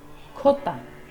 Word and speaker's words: jota: The letter J in Spanish is said as Jota. There are actually two J sounds in Spanish. In the Caribbean and Central America, the Jota sounds like H, and in Spain, it is pronounced as K.